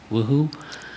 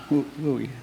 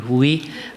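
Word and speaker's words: WUI: and being in the if I pronounce it correctly, Woohoo. Uh Wooi. Wooi. Thank you. Wooi.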